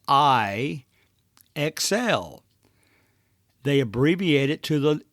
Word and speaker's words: IXL: I EXL stands for it's really just phonetically means I xl they abbreviate it to